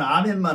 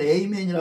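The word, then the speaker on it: amen: 그 유명한 아멘만 하지. 이 미국 사람들은 에이멘이라 그러지 아멘도 안 해요. 우리가 지금 저쪽 서양식 발음을 해서 아멘 그러지. 미국은 에이멘 그러거든요.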